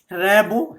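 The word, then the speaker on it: Rimbaud: শুরুতেই আমরা তার পেরেন্টস ফ্রেডরিক র্যাবো, র্যাবো উচ্চারণটা সম্পর্কে একটা কথা বলি। সুনীল গঙ্গোপাধ্যায় একবার ফ্রান্সে গিয়েছিলেন, তো সেখানে গিয়ে তিনি শোনেন যে কেউ র্যাবো বলে না, তারা কি বলে, র্যাবো র্যাবো, অর্থাৎ হয় রফলার মতন একটা কি উচ্চারণ করেন। যাই হোক, সাধারণত এটাকে র্যাবো, অর্থাৎ এমটা চন্দ্রবিন্দু আর ডিটা সাইলেন্ট থাকে ফ্রেঞ্চ ল্যাঙ্গুয়েজ বলে।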